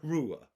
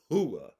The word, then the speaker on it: Rua: Now we're going to enter in our next piece to this puzzle by the name of Shogun Rua or Shogun Hua, however you want to pronounce it.